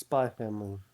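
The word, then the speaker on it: Spy × Family: Yeah, it's Spy Family. It's the X is silent. I Please. I will always say Spy X Why not? Family. You will not hear a silent X.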